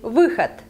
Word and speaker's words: выход: I know that in many languages this sound I doesn't exist, and some of you may find it difficult to pronounce, but try it again and again. Maybe it's the sound that you make when you moan, when you are not happy with something, like like выход, выход.